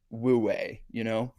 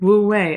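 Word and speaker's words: wu wei: It feels very woo-way, Mm-hmm. Yeah. Did you say woo-way? Woo-way, effortless action.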